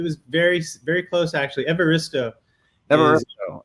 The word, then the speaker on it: Evaristo: yeah so it was very very close actually evaristo all right it was usually how i introduced him it's it pronounces the way it's it it is yeah